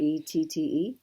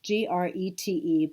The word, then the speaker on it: Grete: Grette? No, it's Grete by Woolfolk.